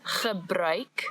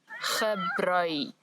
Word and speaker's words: gebruik: So the word is gebruik, the ch sound as before, and now we've added a new sound, ui, ui, gebruik.